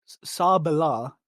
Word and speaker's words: Sabala: Sabala is how you say it because that's what she says when she henshins. Yeah, no, I've always said Sabella.